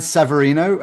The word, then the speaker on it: Severino: But anyway, back to you Ryan Severino. I pronounced your name right?